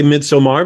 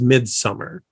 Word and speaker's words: Midsommar: for this um okay we always say midsomar because that is the British or european pronunciation the American accepted pronunciation for this is mid-summer so you'll see some reviewers and people out there who call it Midsummer uh even though it